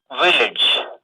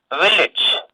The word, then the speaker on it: village: Village. What sound is there? Here, what vowel is there here? It is not A letter. The sound is E.